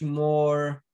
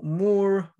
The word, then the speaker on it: Moore: sensors um so more more law it's spelled m-o-o-r-e like more like roger moore from um zero zero